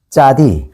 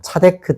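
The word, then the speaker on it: צדי: 이것을 뭐라고 하냐면 짜디. 그래서 짜디크라고 하기도 하고 저는 짜라고 읽어요. 저는 짜디크 어 신학교 대회할 때 짜디크 이렇게 배워 가지고 이제 표기는 차라고도 많이 해야 돼요. 차데크 짜디크 요게 비슷한 발음이다.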